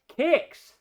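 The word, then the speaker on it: Quix: And with the CoCo Show, we'll be playing Kicks. Now, on the CoCo, it's spelled Q-U-I-X.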